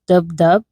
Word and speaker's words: DupDub: The app we'll be using for this project is DubDub. It's spelled DUPDUB.